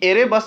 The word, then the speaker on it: एरेबस: Next question है कि एरेबस ज्वालामुखी कहाँ स्थित है। फ्रेंड्स, ये थोड़ा एयरबस नहीं एरेबस होगा, माउंट एरेबस ये स्पेलिंग होता है इसका।